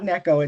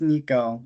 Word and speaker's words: Nico: It's not Neko, it's Nico.